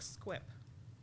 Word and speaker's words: Squip: SQ you no s it's spelled with a Q skip like squip SQ IP I did I did